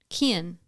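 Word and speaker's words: Cian: so these are Irish boy names okay c-i-a-n Kian oh all right let's see what that sounds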